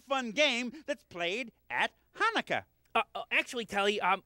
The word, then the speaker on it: Hanukkah: They're teaching me a really fun game that's played at Hanukkah. Actually, Telly, it's pronounced Hanukkah, you know, with more of a ha.